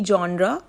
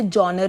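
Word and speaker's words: genre: इट इज़ a literary जॉनरा, या फिर कहीं लोग इसे जॉनर भी पढ़ते हैं इस वर्ड को, बट जो करेक्ट प्रोनाउंसिएशन है वो है जॉनरा.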